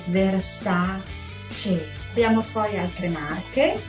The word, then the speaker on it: Versace: fluentemente gucci prada attenti versace attenzione sento molto dire versarci rosa c no si dice versate sì abbiamo fuori altre